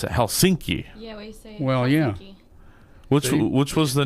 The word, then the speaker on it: Helsinki: I mentioned earlier that in every single word and every single name the first syllable is hit hard it's accent and heavily it's accident it's the first thing that you're here Helsinki mm-hmm so you you